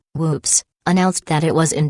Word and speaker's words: WPPSS: on july 25th 1983 wppss pronounced with macabre humor whoops announced that it was